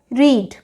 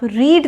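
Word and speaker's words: read: spelling बिल्कुल ठीक है लेकिन अब आप सिर्फ बोलते टाइम छोटी सी बात का ध्यान रखेंगे कि पास्ट टेंस में आप रीड नहीं बोलेंगे आप इसे रेड बोलेंगे फिक्स जैसे अगर हम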